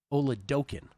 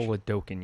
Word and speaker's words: Oladokun: Johnson, Max Brosmer, or Chris Oladokun, I'm told is the pronunciation. Oladokun, yes. Oladokun, like smoking Chris Oladokun. That's how you remember it.